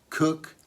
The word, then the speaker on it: Coke: Now the bowler hat originated by the Cook family, pronounced Cook, spelt Coke.